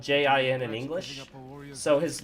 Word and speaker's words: Jin: So the English actors pronounce his name as Jin, but I'm assuming it's G-N, spelled J-I-N in English. So his name would actually be pronounced Jin, because J-I in Japanese is pronounced G.